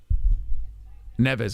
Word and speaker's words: Neves: head kick by Nevis I'm gonna call it Nevis how do you say this guy's name I don't think this is gonna last very long Nevis oh that's right okay all right so